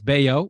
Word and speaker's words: Bello: a lot to say about that but it's bao it's how he pronounces uh or you could just call him